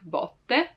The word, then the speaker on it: botte: Now, as I said it right now, like botte, with an open sound, botte, like there's a lot of space in between my lingua, the tongue, and the rest of the mouth, botte.